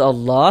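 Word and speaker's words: الله: Wallah, lafaz Allah dibaca panjang.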